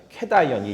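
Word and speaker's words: cation: 카보캐다이온, 캐다이온이 양이온이라는 뜻이에요. 캐다이온 이렇게 발음을 합니다.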